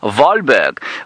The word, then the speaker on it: Wahlberg: Jim you say uh Johan Walberg was a Swedish naturalist yes he was indeed and you say he therefore would have said his name valberg well he may yes